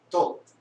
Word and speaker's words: Thoth: That came from Thoth, or should I pronounce it more correctly? Thoth. That's how he pronounces it.